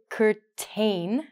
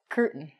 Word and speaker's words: curtain: As an example, we don't say curtain, which it looks like. We actually say curtain.